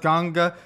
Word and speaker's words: Ganga: Like the river, the waters, some people call it Ganges, but I think it's pronounced Ganga.